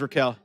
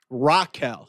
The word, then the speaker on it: Raquel: No, there's Raquel. Raquel, yeah. I've never heard the name pronounced like that until WWE. I've always thought it's Raquel, not Raquel. Raquel.